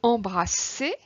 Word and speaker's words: embrasser: se prononce ZE et embrasser signifiant étreindre, enlacer avec ces deux S se prononçant SE.